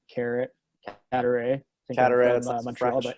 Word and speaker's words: Cadaret: How's the best way to pronounce this? Is it Cadaret? Yeah, you nailed it. That's rare. Playing hockey growing up, when they announce when you go on the ice, I've heard everything. I've heard Cadet, Carrot, Cadaret.